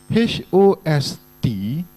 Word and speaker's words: host: s t ah some even horse h o s e is pronounced as hose h o s t is pronounced as host I'm not teaching you